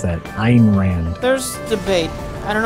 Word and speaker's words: Ayn: Ayn. That's how you pronounce that. Ayn Rand.